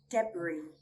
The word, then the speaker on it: debris: We do not pronounce the letter S when it comes before the letter L or after the letter I, sometimes at the end of a word.